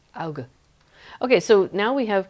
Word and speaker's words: Auge: You think it's like Auge. There's the hard G. Auge.